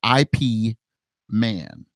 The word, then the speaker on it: Ip Man: movies it's from a movie called ape-man it's pronounced Ip Man right it was done in a 2008 and